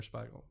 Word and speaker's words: Spiegel: Slash Film from Josh Spiegel. So Spiegel or Spiegel. I can never get that right, but I'm using the German pronunciation, Spiegel.